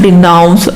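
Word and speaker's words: denounce: डिनाउंस में ऐसे मान लो कि ऐसा इसका प्रोनाउंसिएशन हो रहा है डिनाउंस, अनाउंस, ठीक है।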